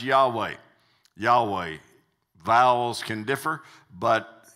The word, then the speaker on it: Yahweh: quite often is pronounced Yahweh Yahweh vowels can differ but Yahweh is how it's mostly said and that stands for